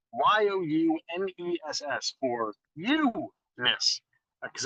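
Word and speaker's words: Youness: It's spelled Y-O-U-N-E-S-S for you-ness, because it's all about you here at Dora May Jewelry.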